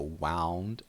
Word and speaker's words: wound: it's an adjective uh we need to make sure that this word is pronounced correctly it has an ow sound so wound up you know what